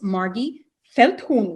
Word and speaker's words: Margy Feldhuhn: me today on the podcast her name is margie felton right am i pronoun pronouncing this properly yes welcome margie so um